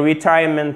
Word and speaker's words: retirement: C'est un retirement plan. Okay? Retirement plan, tout simplement. Un plan retraite. Voilà, on pourrait le traduire comme ça. Accent tonique sur la deuxième syllabe, comme dans insurance. Retirement, retirement, insurance. OK?